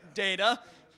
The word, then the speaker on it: Data: Data. Yeah, so Brent signed my 2nd book to Jordan. It's Data, Not Data, Brent Spiner.